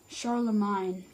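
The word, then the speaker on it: Charlemagne: Magna and show them Oh it's spelled it's pronounced sorrel of mine Sharla mine when Sharla mine died in 1814 however this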